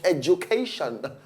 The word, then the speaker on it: education: not get access to education. Education, that's right pronunciation. Education. Education. Maybe. Education. No, it's not the D. It's J. Education. J. Now, one D like that and one J.